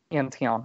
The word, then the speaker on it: Antion: antion by the way is that how you pronounce it tom antion antion okay adam you're gonna wanna we have tom